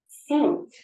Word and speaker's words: seat: Now listen to another word. Seat. Seat. Can you hear the pronunciation? Seat. E sound. Seat. Sit. Seat. I know it can be difficult at first, but with a little bit of practice, I'm sure you will hear them differently.